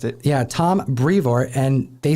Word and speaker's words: Brevoort: Tom Brevoort is how Donny Cates pronounced it. Yeah, Tom Brevoort.